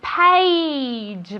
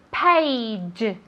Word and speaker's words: page: Very good, page. Vale, esto es difícil de pronunciar. Se escribe con una A, pero se pronuncia como si fuera E-I. ¿Vale? Page, page.